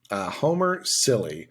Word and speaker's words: Cilley: Homer Silly. I don't know if I buy that. It's spelled Cilley.